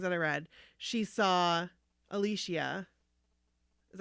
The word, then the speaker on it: Alicia: to these things that I read she saw Alicia is how you say at least yeah Alicia